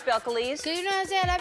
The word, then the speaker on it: Belcalis: My real name is Belcalis. Belcalis? I can pronounce Belcalis. Cause you know what I'm saying? A lot of people be like Belcalis. Yeah, well, if you read it, you probably would. But Belcalis, but you don't go by that.